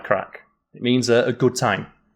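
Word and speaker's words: craic: Then we have crack. And this is, to help you, it's derived from a similar word that's pronounced the same in Irish, but is spelled differently. So it's the right crack.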